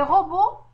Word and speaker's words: robots: Les robots portent de beaux habits. Ici aussi, dans robot se termine par des lettres muettes T et S.